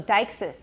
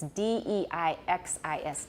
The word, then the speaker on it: deixis: So Deixis, it's D-E-I-X-I-S, Deixis.